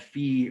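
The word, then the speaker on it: phi: figured out this angle which i called fee right here p-h-i that's not a greek letter that you've seen for an angle too many times i get pronounced five p-h-i um if i took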